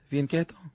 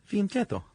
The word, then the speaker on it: fianchetto: Or the fianchetto. chetto C H in Italian makes a kiss sound. fianchetto Yeah. Okay. C and then a vowel makes a ch sound. fianchetto Yeah.